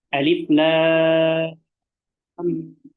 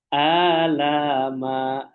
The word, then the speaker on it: alif lam mim: Kadang juga ada yang membacanya alama. Makanya di sini kita pentingnya mempelajari tajwid. Yang betul alif lam mim.